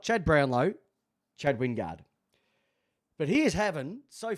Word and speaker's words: Wingard: How do you pronounce it, Jamie? Chad Wingard.